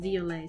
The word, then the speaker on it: Violet: It is the French pronunciation violet, so woohoo, I did it.